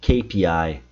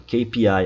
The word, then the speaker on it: KPI: Kpi, KPI, Key Performance indicator ou indicators, né? Porque são vários. KPI, KPI. E aqui tá cheio de brasileiro errando. Ki, olha o I. Ai, sou eu. Ki.